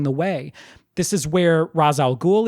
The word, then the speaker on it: Ra's al Ghul: way this is where Ra's al Ghul is created or Rachel Ghul if you want to use O'Neill's pronunciation this is where the